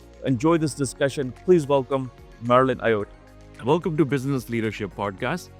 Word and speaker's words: Marylène Ayotte: Please welcome Marilyn Iay. Welcome to Business Leadership Podcast. Today's guest is Marlin Iote. I hope I pronounced it right that the Marlin your last name.